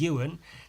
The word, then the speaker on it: Ewan: an e of course the name pronounced u and starts with an e why wouldn't you think